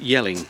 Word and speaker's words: Jelling: About 14 km from the campsite to Yelling spelled with a J.